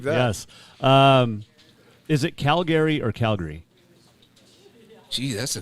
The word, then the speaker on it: Calgary: one time for saying Calgary yeah they probably don't like the emphasis on the syllables right they just slurred into one they're like it's Calgary and I'm like I'm